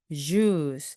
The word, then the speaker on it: juice: 그래서 애플보다는요, apple처럼 발음을 해주시고 된소리를 내주시고요. juice 입 모양이 앞으로 쭉 나오면서 해주시면 됩니다.